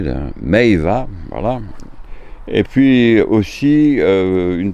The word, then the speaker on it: meiwa: J'ai du mal à prononcer là. Meiva, voilà.